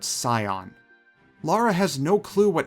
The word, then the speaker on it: Scion: to as the Scion the voice actors repeatedly pronounce this as skon but I'm assuming that the devs meant it as how you would pronounce the actual word Scion Lara has no clue